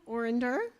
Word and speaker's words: Orender: So Donna Orender, did I pronounce that right, Donna?